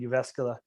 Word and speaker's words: Jyväskylä: it's called JYP and Jyväskylä, and yeah, it was In what town? Jyväskylä. Jyväskylä? Starts with a J though. Right, but the J is silent, like jogging.